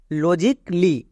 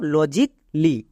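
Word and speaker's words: logically: পরে যদি double L ওয়াই থাকে তখন এ সাইলেন্ট যেমন আরো দেখো লজিক লি এবার এখানেও দেখো এখানে এ এর পরে ডবল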